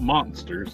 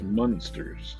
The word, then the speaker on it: Munsters: Because you say Munsters because it's spelled with an M-U, not an M-O. Gotcha. It's not Monsters, it's Munsters.